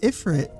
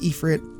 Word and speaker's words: ifrit: But ifrit reminds us that sometimes rage is the only thing left when faith fails. In Arabian mythology, ifrit, pronounced ephrit, I'm pretty sure, is the name given to a class of jin.